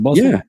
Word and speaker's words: Bustle: Am I saying it right? Is it Bustle? Yeah.